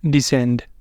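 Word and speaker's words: descend: हो सकते हैं तो इन लेटर्स इन वर्ड के अंदर लेटर सी जो है वो आ रहा है एस के बाद इसलिए यह सब में सी साइलेंट है सी की हम आवाज नहीं दे रहे सी को हम बोल नहीं रहे और दूसरा हमारे पास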